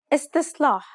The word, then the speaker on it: استصلاح: The first S is pronounced dark despite what is written. استصلاح استصلاح.